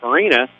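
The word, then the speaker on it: Fiorini: Farina is spelled F-I-O-R-I-N-I. So if you can buy an I in this one, you got it made.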